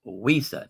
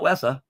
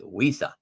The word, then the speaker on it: Wisa: It's pronounced Wisa, not Wessa. It's Wisa.